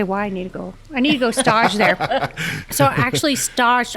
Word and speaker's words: stage: S-T-A-G-E, so it's the French pronunciation.